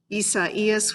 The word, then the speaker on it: Isaias: Isaias, which I learned to pronounce this week, is Spanish for Isaiah, the prophet, that is, the one whom Paul is referring to here in the book of Romans.